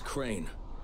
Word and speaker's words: Crane: store no my name's crane crane crane rhymes with train and brain and sane and grain and rain and plane and the other kind of plane and and can i